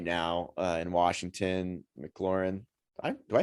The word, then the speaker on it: McLaurin: You could say right now in Washington, McLaurin. Do I say his name right? I feel like I said. Yeah, you're good. McLaurin.